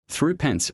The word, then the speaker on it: thrippence: The thrippence coin often pronounced through pence or through pony bit was worth 180th of a pound.